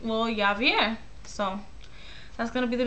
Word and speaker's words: Yavier: The baby name is gonna be Yavier, which is kind of like Javier but with a Y, so it's spelled Y-A-V-I-E-R.